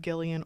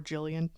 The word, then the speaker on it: Gillian: said like Jill, because like the name Gillian with a G can be pronounced Gillian or Jillian, just depending.